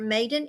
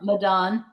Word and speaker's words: Madan: Maiden, Madan. Did I say it right? Madan.